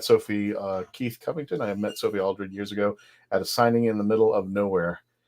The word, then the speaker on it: Sophie Aldred: Is that how I pronounce it? Did I get it right? Yeah, you did. Okay, you pronounced it correct.